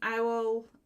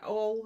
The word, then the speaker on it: awl: If you've got an owl, an awl, is it an awl or an owl? Awl, that's how it's pronounced.